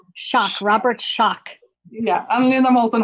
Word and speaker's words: Schoch: a Boston University professor Robert how do you pronounce it shock shock Robert Schoch yeah I mean Anna Moulton Howe and other